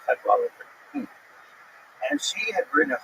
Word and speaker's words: Cadwalladr: The last syllable is kind of interesting because there's no vowel. It ends with DR. Carol Cadwalladr.